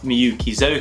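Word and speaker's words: Miyuki Zoku: So the second brand I want to talk about is called MKI, or Miyukizoka, that's how you pronounce it. It's a Japanese word.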